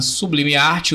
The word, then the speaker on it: Sublime Arte: Sublime Arte, o T é mudo, 09 no Instagram.